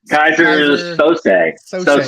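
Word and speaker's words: Keyser Söze: He's single-handedly orchestrating the Bears like some kind of Kaiser Suse. How do you say that? Kaiser Sose, I think. That's it.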